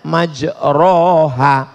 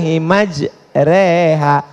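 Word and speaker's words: مجراها: membaca email lah Bismillahirrohmanirrohim creehack tulisannya majroha Tapi bacanya miring bismillah imaj reha namanya Imam Al mall-mall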